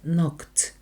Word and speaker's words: knocked: постукав в двеry and knocked at the door буква K перед N не читається kcked постукати в K at